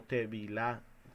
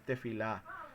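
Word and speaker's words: תפילה: de la palabra que tefilá, o a veces se pronuncia como tevilá, pero es tefilá, que significa intercesión o súplica.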